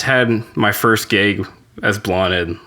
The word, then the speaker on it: Blaned: I mean, like people say like, is it Blaned? I'm like, that's close enough because it's Blaned.